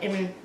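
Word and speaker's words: Eyre: And you pronounce his last name is I think it's E-Y-R-E, Fred A.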